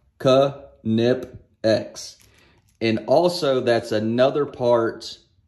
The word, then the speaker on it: Knipex: i pronounce knipex wrong they say it's supposed to be nip x well according to canipex it's pronounced ka nip x and also that's another